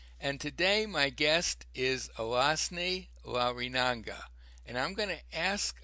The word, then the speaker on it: Alazne Larrinaga: at Body Learning, and today my guest is Alasni Larinanga, and I'm going to ask Alasni to pronounce her name here first, if you wouldn't mind. No, you did very well. Alasne Larrinaga.